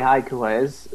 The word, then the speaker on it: Haiku Oezu: She's her name is actually Haiku Oezu, which is like, yeah, that's actually how you pronounce it, by the way, and there's a reason for that.